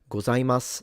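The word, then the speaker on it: ございます: Do a lot of Japanese skip the pronunciation of the U at the end and read it gozaimasu? So arigatou gozaimasu with a s.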